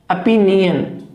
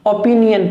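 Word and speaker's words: opinion: देखिए, अपिनियन, ए पी, न य न, अपिनियन, ओपिनियन प्रोनाउंसिएशन नहीं है, अपिनियन।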